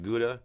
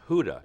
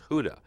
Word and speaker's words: Gouda: We call it pronounced Gouda, Right. but it's supposed to be pronounced Huda, H-O-W-D-A. Instead Okay. of Gouda, it's Huda.